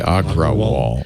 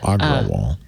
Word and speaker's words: Agrawal: say i'm sorry agarwal it's a-g-r-a-w-a-l so i'm saying it phonetically agro wall aggro wall but i don't know